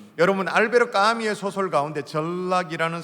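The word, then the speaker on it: Albert: 아니면 작가를 좀 아십니까 알베르 까뮈 라고 아십니까 프랑스 작가입니다 영어 10 반의 발음으로 하면 알버트 라고 말하기도 하고 알베르트 라고 말하기도 하는데 실존주의 문화 까지요 그런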